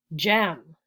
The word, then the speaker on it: gem: here we have gems gem spelled g-e-m but do you hear J gem Jewel it is the same sound is the same sound different letters though so the J sound in English can be spelled with a G or a j now we should know